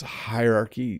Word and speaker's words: hierarchy: yeah I say hierarchy so it's hierarchy like hierarchy but it's almost becomes one syllable at the beginning very very challenging not